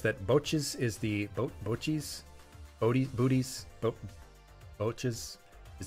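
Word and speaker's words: Boursin: like food Club food lion Great Value Bois Bois that's how you say it Bois not bougis OG's cheese last a good long while typically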